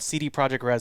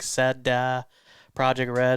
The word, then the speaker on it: CD Projekt Red: uh said i forget it's not called cd projekt red somebody said you pronounce it wrong it's like said project red it's like yeah it's not cd projekt red you gotta pronounce it differently i i was like